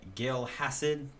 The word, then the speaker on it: Gil Hassid: I got a request a while ago for it was by Gil Hassid, that's how you pronounce it.